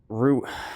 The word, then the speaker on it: Rui: Rui, pronounced Rui like the flower.